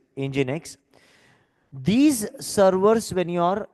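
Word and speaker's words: nginx: X NG I NX it is pronounced as engine X but we write it like this engine X these servers when you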